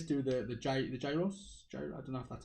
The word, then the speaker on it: gyros: this acropolis place do the the giant the gyros enough that's how you say it the greeks